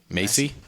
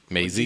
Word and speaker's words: Maisie: Macy. I would say Macy. Macy. Okay. Or Maisie. Oh, it's Maisie. Maisie.